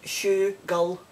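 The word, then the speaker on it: schoogle: right that's the word shugo and it's it's spell s-c-h-o-o-g-l-e and it's pronounced shoe gull tell me if you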